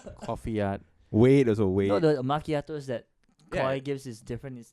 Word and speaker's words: macchiato: to get okay that's just a name but makiato is a proper coffee whatever I don't drink